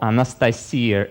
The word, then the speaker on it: Anastasia: But on his next trip, he met a granddaughter of the elders named Anastasia, or Anastasia as we pronounced it in Russian.